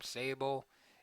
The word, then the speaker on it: Szabo: I think you pronounce the name Sabo. It's spelled. The last name is spelled Szabo.